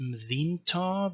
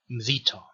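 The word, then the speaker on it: ܡܕܝܢܬܐ: it could be pronounced Mdinta, but that's not how you pronounce it. The N is assimilated to the tau, so the nun is assimilated to the tau, and you say Mdita.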